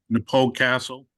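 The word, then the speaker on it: Knappogue Castle: uh so first uh Napo castle and that is the correct way to pronounce it so think um so those are you know fans of the musical group The Pogues so it's not poges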